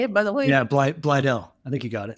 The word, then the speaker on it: Blydell: Yeah, Blydell.